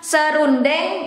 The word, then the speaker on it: serundeng: We don't pronounce the E, because it becomes two syllables instead of three. It is the same with this, terasi, it becomes terasi. And this one, serundeng, it becomes serundeng, two syllables instead of three, serundeng.